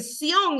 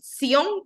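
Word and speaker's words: צִיּוֹן: Dice que Sión es una palabra hebrea que es del número 6726 y se pronuncia más o menos así como Sión con una T al principio y viene de otra palabra que es la hebreo 6725, dice.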